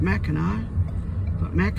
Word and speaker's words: Mackinac: mackinawa is spelled with a c but it's pronounced Mackinac Ana City ends with a W on the